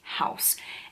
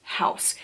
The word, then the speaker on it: Haus: translate says is that in German and in English it is pronounced house even though it is spelled where I would think